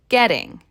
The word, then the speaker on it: getting: We also have that popular flap T in the word getting.